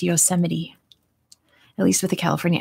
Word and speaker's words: Yosemite: us don't know that like yosemite sam there you go yeah um the looney